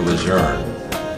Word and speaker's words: Lejeune: And let me just say right now, Gloria, John Archer Lejeune, that's incontrovertibly, the correct pronunciation of the general's name and his family.